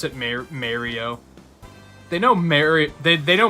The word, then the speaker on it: Mario: up in the bunker Mario is the Italian way of saying it or or may Rio is it's Mario right yeah I've never understood